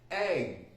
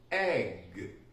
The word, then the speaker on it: egg: The G is actually sometimes a very difficult sound to produce for Spanish people. So I hear things like ech, doch, bach, with that sound at the end. It's actually quite simple, right? So it's dog, g. You see my throat? G. We need to pronounce it that way.